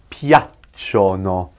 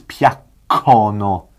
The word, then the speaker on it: piacciono: And that's pronounced piacciono. Piacciono. Piacciono. Pause on that C. If you don't put the I there, it becomes piaccono.